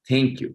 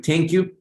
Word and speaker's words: thank you: primero con E, así lo vas a pronunciar tal cual, y luego te voy a mejorar la pronunciación, pero comencemos por acá, dígalo conmigo, thank you, con E. Thank you. Listen, ahora te vas a morder la lengua, vas a soplar y mientras estás soplando con la lengua mordida vas